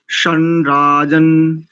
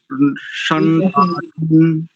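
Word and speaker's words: शं राजन्: और दूसरी पंक्ति में देखेंगे तो शनराजन शनराजन, ऐसा उच्चारण।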